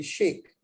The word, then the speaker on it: Shaikh: the correct English pronunciation would be Sheikh. Sheikh, okay. S-H-A, break it in 2 syllables, S-H-A, Sheikh, and I-K-H. It's pronounced Sheikh.